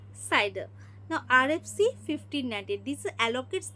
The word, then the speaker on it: CIDR: Now C that is a classless interdomain routing that is pronounced as cider.